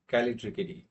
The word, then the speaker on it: Callitrichidae: Um, this this thing is pronounced as Callitrichidae.